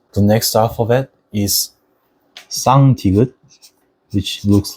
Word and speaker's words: 쌍디귿: learned beforehand, and it actually sounds similar to tigut, but you should pause your breaths beforehand like tigut, but it has to be much stronger. So you have to stress your mouth muscles to pronounce 쌍디귿 properly.